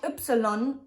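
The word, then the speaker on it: Ypsilon: like computer Epsilon Epsilon it's pronounced Like You Like Jaeger and an example to write Upsilon is for example yoga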